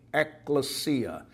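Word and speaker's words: ἐκκλησία: of the New Testament the word church is eklesia eklesia it's spelled ECC and occasionally you'll see it spelled ekk but ECC l s i a eklesia is how it is pronounced and it's translated in English Bibles as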